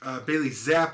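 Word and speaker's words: Bailey Zappe: and then houston baptist bailey zapp i believe is how you say his name uh that quarterback is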